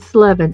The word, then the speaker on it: Slevin: I got this movie called Slevin, Slevin. It's got the number 7 on it. I always talk about it because it rhymes with 7, and I'm doing 7s right now.